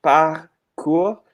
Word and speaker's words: parkour: parkour like that yeah because it comes from the French PAH cool which means like be